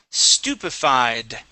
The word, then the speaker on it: stupefied: Right here, this word is stupefied.